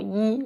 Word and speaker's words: 一: The first, before a fourth tone, 一 will be pronounced as second. The second, before a first, second, third tone, 一 will be pronounced as fourth. The third, between two same verbs, 一 will be pronounced as a light tone.